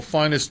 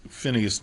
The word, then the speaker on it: Phineas: While Finest Newborn Jr., also Phineas Newborn Jr. is an equally acceptable pronunciation.